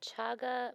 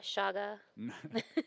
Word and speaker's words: chaga: h a g a chaga mushrooms Fant and we verified the pronunciation it's definitely chaga not Shaga shaba Bo oh sh I